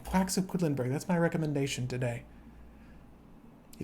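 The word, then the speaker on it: Quedlinburg: guys play board games quacks of quitlinberg that's how you pronounce that name quacks of quidlinberg that's my recommendation today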